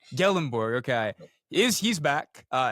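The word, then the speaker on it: Gyllenborg: Believe uh second team all mountain west tight end John Michael is it how do you pronounce his last name? Gellenborg. Gellenborg.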